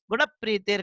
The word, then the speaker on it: गुण प्रीतिर: जब भी आप ये प्रोनाउंसिएशन देखें, जैसे ये गुण प्रीति, प्रीति है ना, ये संयुक्त अक्षर है, तो ये संयुक्त अक्षर इसके पहले वाला अगर ह्रस्व स्वर है, छोटा है, तो उसके ऊपर इसका प्रोनाउंसिएशन पड़ता है, इन्हें स्वराघात होता है। गुण प्रीतिर कहेंगे इसको, गुण प्रीतिर।